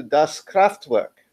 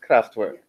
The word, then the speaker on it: Kraftwerk: By the way, our Hokey Pokey later will be dedicated to Das Kraftwerk. Is that how to say it? Kraftwerk. Just Kraftwerk. No Das.